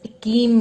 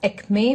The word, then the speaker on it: acme: Next is akim, means peak. Sorry, we pronounce it as acme, which means peak.